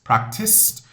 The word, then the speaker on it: practiced: Practice. Practice. Practiced. So because that has the voiceless ending, you have it with the T.